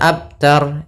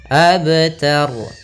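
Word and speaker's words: أبتر: Qalqalah Qalqalah di sini ada kesalahan yang sering terjadi yang pertama dia tidak memantulkan bnya misal abtar yang kedua memantulkan dengan tambah Hamzah abtar ini salah juga harusnya mengalir saja abtar Kemudian ada yang terakhir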